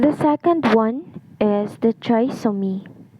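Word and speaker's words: trisomy: second one is the triom the correct pronunciation for this is TR so me involves the presence of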